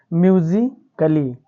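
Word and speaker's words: musically: वाई आया है यानी डबल एल वाई के पहले क्या आया है बच्चों ए आया है इसको हम उच्चारण इसका नहीं करेंगे जैसा कि यहां पर म्यूजिकली ठीक है बच्चों इसी प्रकार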